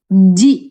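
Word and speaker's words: じ: Tapi shi yang pakai teng-teng ini dibacanya jadi ji bukan zi ya.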